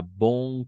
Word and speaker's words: bonne: Aquí hay mucha diferencia en pronunciar este bon. Este es un bon. D'accord. Bon. Este es un bon. Bon. Cerrado. Bon. Y este va a ser ya bonne. Bonne. Abierto.